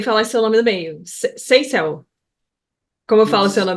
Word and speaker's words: Seisel: Seisel.